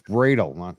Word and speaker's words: Bradle: It's Bradle, not Brattle. Bradle. I gotta get that right.